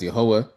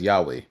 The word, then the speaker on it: Yah: So we we pronounce the name of God as Yah. Many people pronounce the name of God as Yahweh.